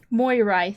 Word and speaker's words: Moirai: more moirai mor martin how do you pronounce that one boy right moirai thank you it is exactly how it is spelled i don't know why